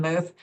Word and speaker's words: Muth: Ann Muth, take it away. What can people expect at your very, very cool space? Notice how I didn't say booth because I didn't want it to rhyme with Muth, and that's awkward.